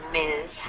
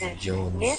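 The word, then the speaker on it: Ms.: Okay, it is good to know if you didn't realize about the word miz. Good to know. M is miz has been common for the last few decades, probably since the women's right movement in the 50s.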